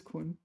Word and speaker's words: 捆: How do you pronounce that one? 捆. It is 捆.